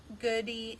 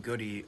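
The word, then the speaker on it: Goode: his business well his his last name is spelled g-o-o-d-e and i used to call him goody on the mic and of course it's not it's good and they always made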